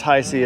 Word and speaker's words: HAIX: this company I see it's pronounced it's pronounced Hi-C it's h-i-s-e-a right there